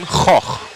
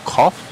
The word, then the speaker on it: Goch: Of course, some of these drivers, actually, if we wanted to pronounce Goch correctly, I believe that is a Dutch surname. Goch would be how you would say it, but each person would pronounce that differently.